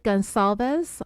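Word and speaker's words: Gonçalves: case back in January it's with a soft C in the middle of her last name and I was saying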